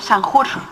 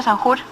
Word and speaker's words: Sanjur: señor raúl iván castillo san jose así se pronuncia el señor raúl iván castillo sanjur raúl iván castillo él